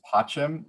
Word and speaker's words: pacem: It's pacem, which means peace. And the reason I don't say peace in English is because pacem is 2 syllables, and that just works better when you're doing breathing.